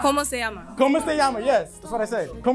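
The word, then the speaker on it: Cómo se llama: This painting is called Como Este Llama. That is Spanish for what is your name? We all know. He pronounced it wrong. Como se llama.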